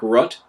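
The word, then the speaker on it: Rutte: prime minister of holland his name is mark rutt r-u-t-t-e um george soros the multi-billionaire who's a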